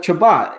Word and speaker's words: Chabot: Who looks good too is Chabot.